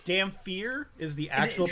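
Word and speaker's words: Dhampir: Eric, what you dampires eat? It's Damphir is the actual Damphir? pronunciation. It's the actual it? pronunciation is Damphir.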